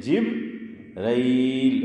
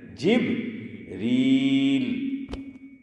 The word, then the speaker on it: جبریل: لیکن عام طور پر ہم کیا بولتے ہیں؟ جبرائیل. اور قرآن کیا کہہ رہا ہے؟ جبریل.